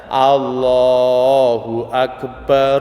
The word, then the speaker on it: Allahu Akbar: jangan ruang enggak boleh karena hamzahnya Allah itu Hamzah washol kau sambungkan dia hilang maka bacanya Allohuakbar Allohuakbar Allohuakbar tapi kalau